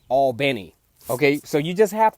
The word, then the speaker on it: Albany: there kind of like with Albany I say Albany but the locals say all bene okay so you just have to be real